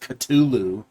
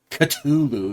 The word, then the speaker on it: Cthulhu: Uh we have the moment Cthulhu found Jesus actually supposed to be pronounc pronounced Culu. Culu, you know, not just, you know, that's how it's actually supposed to be pronounced.